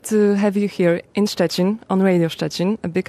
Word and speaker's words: Szczecin: How do you pronounce the city? Szczecin. Szczecin.